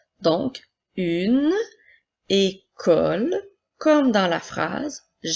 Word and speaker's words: école: La lettre E accent aigu fait le son E, la lettre C fait le son K, la lettre O fait le son O, la lettre E, L fait le son L, et la lettre E, nous ne la prononcerons pas encore une fois puisqu'elle est à la fin du mot.